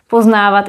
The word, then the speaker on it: poznávat: Poznávat is visually longer than poznat and it also has an accent. Poznávat. So it's also phonetically longer.